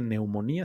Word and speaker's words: neumonía: pulmonía que propiamente dicho no se dice pulmonía se dice neumonía sin la p Y pues si nosotros